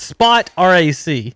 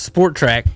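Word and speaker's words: Spotrac: How do you pronounce it? I don't know, but you're close. It's Spot RAC. So Spot Rack? No, that's Maybe. what I'm saying. I thought it was Sport Track.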